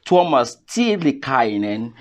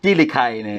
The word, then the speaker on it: Tuomas Tiilikainen: And his name is Tuomas Tiilikainen. You know, it's a Finnish name. I hope I pronounce it well. Yeah, that was actually perfect. Yeah. Well done, well done. Tiilikainen.